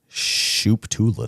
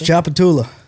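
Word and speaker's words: Tchoupitoulas: Well, I'm going to say the T is silent. Shooptula Street. I don't even know how to pronounce Shooptula that. Street. That's Chapatula.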